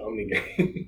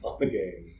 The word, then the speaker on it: Ommegang: I was putting an N in there when I said Ommegang. It's Ommegang.